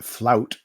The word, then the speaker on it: Fluyt: guy and i'm dan the flute or the flout as the wikipedia pronunciation guide it says was designed for trans